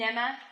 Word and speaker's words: Mneme: am I am an emma therapist and I know a lot of you see the word on theirs how do you pronounce that rhymes with Emma but with an M or with an in and I'm like I